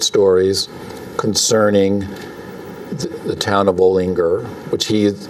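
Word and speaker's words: Olinger: It's called for years and years and years, I always thought it was pronounced Ollinger, but I was reading the introduction to this book. It's actually pronounced Ollinger. It's a Pennsylvania pronunciation.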